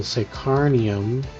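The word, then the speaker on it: Psykhanium: crafting, uh let's just takeick ourselves into the sacarnium.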